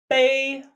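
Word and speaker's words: 杯: And last for the set, with a mu, we have bei. Bei. Pronounced very similarly to prepare, however, with a level tone.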